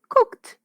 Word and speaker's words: cooked: Y pasado el verbo cook, también cooked. No sé si recuerdan que yo les comenté que si bien todo se escribe con ed. Cook se pronuncia con t. Cooked por una razón fonética.